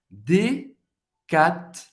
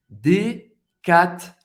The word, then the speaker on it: Decathlon: Decathlon. Decathlon. A gente vai pronunciar o T, o N em francês tem o som do on. Decathlon. Decathlon. O H é mudo, obviamente. Decathlon.